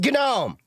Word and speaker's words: GNOME: It's Gnome because it's based it's part of the whole GNU, you know, GNU is not Unix philosophy which we can go down that rabbit hole someday.